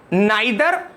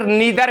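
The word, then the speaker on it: neither: ये चौथा रूल है, इसमें हम नाइदर या फिर नीदर भी कहते हैं, which ever way you pronounce, आइदर you call it नीदर और नाइदर।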